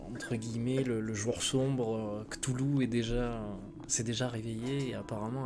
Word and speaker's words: Cthulhu: Cthulhu. Oui, parce qu'en fait, ça se prononce réellement comme ça. Le K doit être prononcé plus que le reste. Cthulhu.